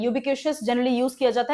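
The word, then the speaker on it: ubiquitous: अब बहुत simple word से लेकर परफंक्ट्री और पार्सिमोनियस, जैसे ये वर्ड है यूबिक्यूशियस, आई थिंक TIOUS आता है, इसका प्रोनाउंसिएशन होता है यूबिक्यूशियस।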